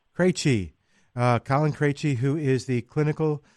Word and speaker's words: Krejci: It's Krejci. Krejci.